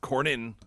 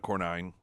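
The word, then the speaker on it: Cornyn: It's pronounced Cornin, not Cornine.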